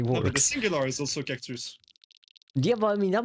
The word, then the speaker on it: cactus: Cactus. The same. And we even pronounce all the letters.